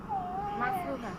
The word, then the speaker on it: মাফরুহা: আপনার উচ্চারণটা কি? মাফরুহা।